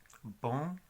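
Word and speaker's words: bom: Bueno, OM o ON es sonidos como on. Por ejemplo, la palabra de bueno, bon, B-O-M.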